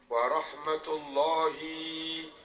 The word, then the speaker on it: warahmatullahi: penceramah kadang begini Assalamualaikum Warahmatullahi ada begitu ada ada apa enggak ada kan Engak enggak ada panjang sebetulnya jangan Asalamualaikum enggak asalamualaikum warahmatullahi wabarakatuh warahmatullahi itu pendek nah beberapa penceramah bacanya